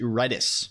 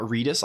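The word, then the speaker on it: Redis: how to use re reddis it's apparently count it's apparently pronounced reddis not Reedus I always thought it was Reedus but yeah you can't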